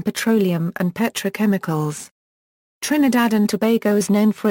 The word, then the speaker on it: Tobago: and the Raina although the English pronunciation is rhyming with plumbago and SEO geography Trinidad and Tobago a southeasterly islands of